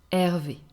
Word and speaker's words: Hervé: And an entirely masculine name could be Hervé, Hervé. So remember, in French, the H is actually not pronounced.